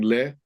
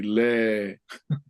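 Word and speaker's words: lē: it's not an umlaut, it's a line over the E. How do you pronounce those? Is it just a longer vowel? Yes. Yep. You drag it out. So Okay. instead of saying le, you say le.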